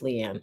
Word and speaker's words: Leanne: bit light a um that's not how you say my name it's Leanne I'm making fun just